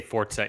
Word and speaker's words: Forza: up some space yikes is it pronounced Forza or Forza Forza okay steuart just wanted to clarify ste's Italian would tell us they say fortza in the game a lot which is